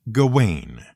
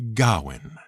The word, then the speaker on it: Gawain: w a i n the one thing you can be absolutely sure of is that it isn't pronounced gain it's much closer to Gowan though obviously don't rely